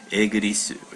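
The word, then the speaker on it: イギリス: the kanji that was utilized in forming the pronunciation of Igirisu or something like that. So this is England, and you say Igirisu, so abbreviation for Britain.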